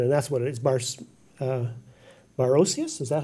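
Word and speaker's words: Barocius: Barosius, is that how you say it, Brian?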